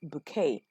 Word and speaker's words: Bucket: Her name is spelled Bucket, but she insists throughout all of the episodes that the name is pronounced bouquet, simply because she tries to or she pretends to be part of the upper class, which she clearly is not.